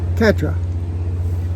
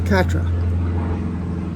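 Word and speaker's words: quatre: cat R it's like cat dog cat R Katra so one in French is two is Du three is TW four is Katra good I just has to practice I guess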